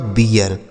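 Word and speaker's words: beer: लेकिन इसे बीर नहीं पढ़ा जाएगा। क्या पढ़ा जाएगा? बी से ब हो गया। इ ए का उच्चारण यहां इ हो जाएगा। क्यों? इसी आर की वजह से आर से हो गया र ये लिखा आपका बियर उसके बाद एच ई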